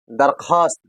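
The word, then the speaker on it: درخواست: इदामात की दरख्वास्त दरख्वास्त और वाव जो है यहां पे साइलेंट रहता है। इससे पहले भी हमने पढ़ा है वाव जो है लिखा जाता है लेकिन पढ़ा नहीं जाता है। वाव को सिर्फ लिखा जाता है लेकिन पढ़ा नहीं जाता है। और वाव यहां पे साइलेंट रहेगा इसलिए यहां पढ़ा पढ़ा जाएगा।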